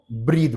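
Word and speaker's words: breathe: Pronunciation का ध्यान दीजिएगा, सांस, सिर्फ सांस को बोलेंगे ब्रेथ, और सांस लेने को बोलेंगे ब्रीद।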